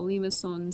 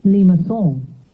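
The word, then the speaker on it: limaçon: So let's hear how limacon sounds. This is a French speaker, hopefully, or someone who pronounces it better than I do. Limacon.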